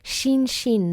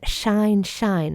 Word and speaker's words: Shin Shin: So with Shin Shin, not Shine Shine, right? The I that becomes I.